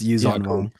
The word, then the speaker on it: Yuuzhan Vong: It's Yuuzhan Vong.